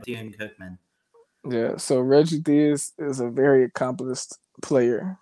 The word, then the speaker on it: Theus: I don't want to butcher his name, but Reggie, how do you say the head coach, Reggie Theos? Reggie Theus.